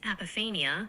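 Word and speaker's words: apophenia: The word is apania which is the tendency to perceive meaningful connections or patterns between unrelated or random things.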